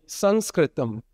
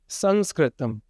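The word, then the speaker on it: संस्कृतम्: Sanskritum. Sanskritum. This is probably a more accurate way of pronouncing the word that we usually say Sanskrit which sounds to a lot of people like writing in the sand.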